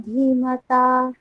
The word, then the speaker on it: ধীমতা: তব শিষ্যেন ধীমতা। আবার তব শিষ্যেন ধীমতা। ধীমতা, ওখানে ধী দীর্ঘ, আবার বলুন।